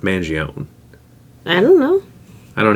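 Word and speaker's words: Mangione: name is Luigi and I think people think it's funnier to say Luigi mangion I don't know because I'm pretty sure that name is pronounced Manion I don't know I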